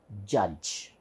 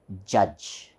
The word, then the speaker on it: judge: J so this becomes judge judge so it is Jets here D is actually silent we don't pronounce d we should not say we should say we should pronounce it as judge next one what's this